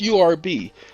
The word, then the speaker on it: herb: It's herb. Pronounced URB. As a matter of fact, young man started a magazine when I was in high school, and it was called Herb. URB.